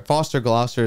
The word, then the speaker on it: Gloucester: middle of uh nowhere Foster Gloucester is the name of it Foster Gloucester is so funny it Rhymes yeah and I mean